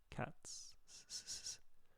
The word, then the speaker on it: cats: So we actually pronounce it like an S. Cats.